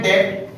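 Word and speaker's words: debt: Okay, तो अब मुझे लिखना है डेट, बीच में साइलेंट है, इसको डेट ही पढ़ा जाता है, लेकिन कुछ ऐसे डिक्टेटर है कि जो इसे डेप्थ ही पढ़ते हैं।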